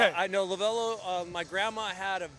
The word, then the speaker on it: Lovullo: So, it's officially lavello. Phonetically, it doesn't sound anything like that or look anything like that, but I'll answer anything. So, wait, so what's it supposed to be? Lavvalo. Lavalo. But my heavy accented grandmother who was born and raised in Italy could not say it properly.